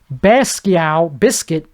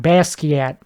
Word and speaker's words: Basquiat: Like that painter guy, Basquiat, Biscuit, whatever, Bisco. I think I said it right the first time, Basquiat. That's exactly how it's pronounced.